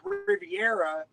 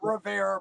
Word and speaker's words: Rivera: Like it was like even guys that I know like Matt Riviera or I did it again. Matt Rivera. His name is Matt Rivera.